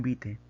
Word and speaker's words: vitae: currículum vite está bien vitae hay en latín se pronuncia el currículum vite digamos que ganase la